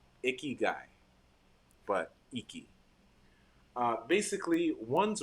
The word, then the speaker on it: ikigai: it for you or I'll say the syllables iki guy so icky guy but iki uh basically